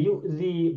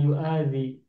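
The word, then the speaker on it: يؤذي: Ketika mudore maka menjadi yudzi bukan yuadzi.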